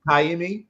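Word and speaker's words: Ka'imi: it's pronounced he's it is it Kimi okay Kimi is how it's pronounced okay uh well he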